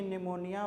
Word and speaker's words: pneumonia: तो आइए जानते हैं सबसे पहले जाने कि निमोनिया व डायस कहां से पहले तो आपको पहले